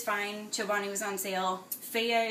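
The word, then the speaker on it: Fage: Feya is really good, which is spelled F-A-G-E.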